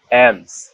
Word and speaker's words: alms: এই এল আর এম পরপর থাকলে এবং পরে ভাওয়াল না থাকলে এল অনুসারিত হবে, সুতরাং এখানে এল উচ্চারণ হবে না, তাই এর সঠিক উচ্চারণ হবে কাম, অ্যামস, পামস।